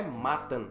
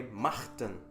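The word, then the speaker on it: Mahtan: Martan se pronuncia assim como o Nacht, de alemão, que significa noite. Portanto, não é Matan, é Martan.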